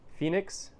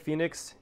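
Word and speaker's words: Fenix: or nothing because I'm not that cool but Phoenix they make it's spelled f-e-n-i-x they make great selections of headlamps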